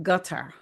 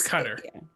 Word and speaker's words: Qatar: the Hebrew and the but it's like ka is how she would say it like in her throat. But they also say gutter gutter. So like kind of like a gutter, but um, so so it's cutter. So, it's This is hard.